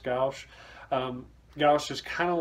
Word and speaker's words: gouache: I think it's pronounced gouache.